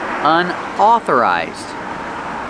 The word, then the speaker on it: unauthorized: the word unauthorized pronunciation unauthorized Au makes the ah sound like ball and call authorized unauthorized that means cars